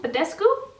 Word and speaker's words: Badescu: things about this this is the Mario Badescu Badescu that's how you say it drying lotion it